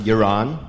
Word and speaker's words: Yaron: I'm Yaron. You could pronounce it like you're on.